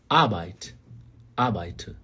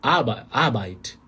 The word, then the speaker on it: Arbeit: Sílaba tônica está no começo. Está na letra A aí. No alemão padrão, você não precisa puxar o R. Não é Arbeit.